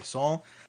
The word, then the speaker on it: Sal: hey everybody uh it's Sal I go by sa but I can also go by Saul uh today pronounce he